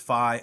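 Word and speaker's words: phi: Star Wars fan that's the Greek letter I've heard it pronounced Fe I've heard it pronounced fi I'll just call it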